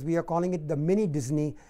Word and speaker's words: Mini Disni: Mini Disney is pronounced the same, but it is spelled differently.